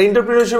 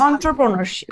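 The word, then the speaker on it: entrepreneurship: আমার ভয় লাগে আর ইন্টারপ্রেনারশিপ একটু রিস্ক অন্ট্রপ্রেনারশিপ জি আপনার উচ্চারণটা ভুল হয়েছে অন্ট্রপ্রেনারশিপ আমি কি আবৃত্তি শিল্পী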